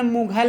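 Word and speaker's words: Mughal: मुगल सराय, मुगल में मुगल लिखना, GH लिखना है, GH से गा पढ़ा जाता है, घा नहीं पढ़ा जाता है, कहीं भी घा नहीं पढ़ा जाता GH से।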